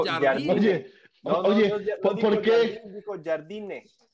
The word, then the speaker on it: Jardine: Se pronuncia Jardine.